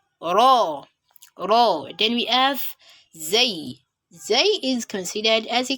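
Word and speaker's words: زاي: It is pronounced from the tongue. And then when you're pronouncing the Zay, the tongue gets slightly pressed up against the front tooth, with the upper and lower front tooth meeting together and making a buzzing sound.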